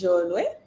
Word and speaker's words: Cholwe: So Cholwe is my English pronunciation, but my tribal pronunciation is Jolwe.